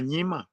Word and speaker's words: Nyima: is Nyima.